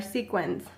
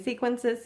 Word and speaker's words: sequins: need are sequins now a lot of you guys are going to correct me about this word constantly because I always say it wrong I say sequences sequence um I say it in all kinds of forms so I do